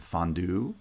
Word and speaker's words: fondue: Words like ballet and fondue from French still have final stress, at least in American English.